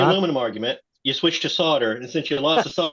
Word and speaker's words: solder: can come back and say hey solder is the correct pronunciation I'm I'm so happy